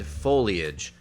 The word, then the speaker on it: foliage: beastly mispronunciations beastly mispronunciations take care to pronounce these words in three syllables verbiage and foliage foliage leaves and autumnals